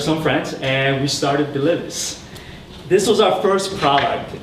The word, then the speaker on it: Delivice: So it's actually pronounced Delivice, short for delivery service, but a lot of people mispronounce us.